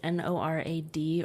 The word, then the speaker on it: NORAD: at um is it n o r a d or is it nor NORAD you pronounce it like that Norad um that control triggers